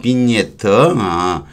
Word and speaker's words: vignette: vignette, 지는 발음이 안 되고요. vignette, 정확하게 뭐 장식문이 꼬불꼬불락하는 거 있죠.